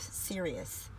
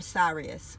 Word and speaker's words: Sirius: So we have here the Lady of the Stars, Princess of Sirius, or Sirius, whichever way, however the way you want to pronounce it.